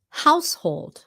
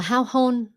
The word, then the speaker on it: household: Household. Tiếng Việt không phải là tiếng Việt nhưng mà sometimes người Việt phát âm là hao hôn, something like that.